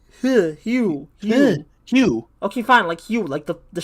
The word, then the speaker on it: Hugh: There's a G in his name. Yeah, also, G-H. Mac is totally right. That's pronounced Hugh.